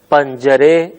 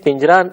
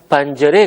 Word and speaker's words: پنجره: اور یہ کھڑکی ہے۔ آپ نے دیکھا کہ میں نے اسے پنجرہ تلفظ نہیں کیا بلکہ پنجرے کہا ہے، تو آپ اس تلفظ کو ذہن میں رکھیں۔ این معلم است آن